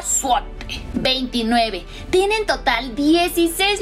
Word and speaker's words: złoty: Se pronuncia złoty.